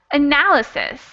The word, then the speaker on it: analysis: pronounce it okay but the last syllable is actually not the stressed syllable because if it